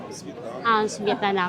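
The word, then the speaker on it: Светлана: Svetlana.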